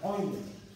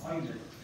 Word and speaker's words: Euler: Se pronuncia Euler. Era alemán, matemático alemán. Debe ser que pronunciarlo en alemán. El diptongo EU en inglés se pronuncia, en el alemán se pronuncia OI. Por eso es Euler.